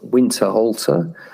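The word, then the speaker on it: Winterhalter: 1846, a picture called the royal family by France Winter Halter. I guess that should be pronounced winter halter.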